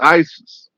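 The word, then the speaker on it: Iesous: in the Greek pronunciation the capital I automatically silences the E goes hard on the S silences the O go hard on the US it's Isis one language back that's all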